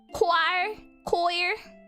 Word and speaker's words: choir: Choir. Thanks. It's a K sound. I was a little bit more confused. about the O and the I. More than the CH.